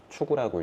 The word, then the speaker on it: 芻狗: 일만 만자에 만물 물건 물자 만물을 위 추구라고 읽어요. 추구.